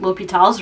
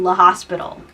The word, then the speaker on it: L'Hôpital: Like when I was taking differential calculus and we were learning L'Hôpital's room, I loved saying La Hospital. I know it's not pronounced La Hospital, but it's more fun to say La Hospital.